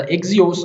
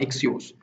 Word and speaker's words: Axios: इस लेक्चर में हम एक्सियोस को देखेंगे जो कि प्रोनाउंस होता है एज अ एक्सियोस और एक्सियोस।